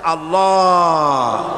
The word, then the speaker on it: আল্লাহ: পাকের নামের উচ্চারণ হচ্ছে আল্লাহ মুখটা একটু গোল হয়ে যাবে বলেন আল্লাহ আল্লাহ সুবহানাল্লাহ পৃথিবীতে বিভিন্ন বিভিন্ন জাতি তার স্রষ্টাকে তারা যাকে স্রষ্টা মনে করে বিভিন্ন নামে ডাকে।